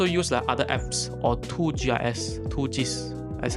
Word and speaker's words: 2GIS: you can also use other apps or 2gis 2gs that's how they pronounce but 2gs right is a very localized